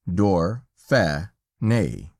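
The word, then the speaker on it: Dauphiné: France for us calling it door funny and pronounced door fair nay but greatest of all the honors shown us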